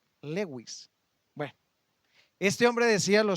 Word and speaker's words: Lewis: un hombre llamado Lewis se pronuncia así cs Lewis Lewis Bueno este hombre decía